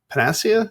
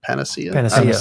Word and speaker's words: panacea: uh AI is not a pan panasia is that how you say it I remember Panacea p Panacea yeah um you know put the wrong emphasis on the wrong the wrong I I